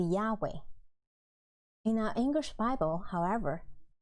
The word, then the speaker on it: Yahweh: And many Bible scholars believe the original pronunciation should be Yahweh.